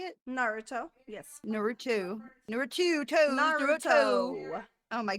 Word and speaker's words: Naruto: culture and we just talked about it in Narato is that how you say it Naruto yes Naruto Naruto oh my God I can't